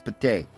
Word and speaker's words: petit: Or mon petit, but it's not pronounced petite, it's pate.